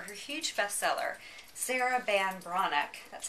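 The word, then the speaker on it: Breathnach: Her huge bestseller, Sarah Ban Bronick, that's how you pronounce her last name.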